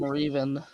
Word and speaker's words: Revan: It's Ravoon is how it's pronounced. Clearly. Yeah. Yeah, and I'm My glad dad he's calls on. him Revan.